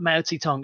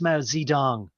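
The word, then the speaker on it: Mao Zedong: as um say um it's not mautitong it's Mao zidong and he always was Madison dong he's not Mao Tong um but the thing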